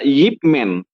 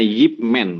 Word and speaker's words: Yip Man: Yip Man. Yip Man ya. Oh ya ya. Nah, Yip ya. Yip. Karena dalam bahasa Mandarin IP itu dibacanya Yip, jadi itu nama orang, bacanya Yip Man begitu.